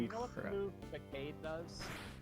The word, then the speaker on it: Facade: Facade? That Linoone? Oh, that's It's, yeah, I've always called it Facade too, but people said Facade. So I was like, oh, so that is actually how you pronounce it, okay.